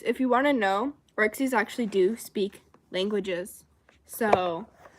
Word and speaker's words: orxes: It's very common for orcsies to have fake piercings normally, you know, like magnet piercings and stuff. No, that's not how it's spelled. It's spelled orxes. Orcsies.